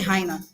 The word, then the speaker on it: hyena: So when you're pronouncing the word hyena, you don't say hyena.